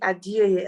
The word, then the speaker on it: Adeoye: My name is Adeoye, and you did pronounce it well.